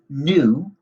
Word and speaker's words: nu: like a squiggly slanty letter v which is pronounced new it's a greek letter and this represents the